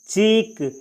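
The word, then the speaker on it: chalk: चौक, इसमें एल का उच्चारण नहीं किया जाता है, इसको पढ़ा जाता है चौक।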